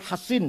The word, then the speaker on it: Hasin: Bisod ya, Hasin. Kalau Sin Husain bacanya. Kalau Sod Hasin bacanya.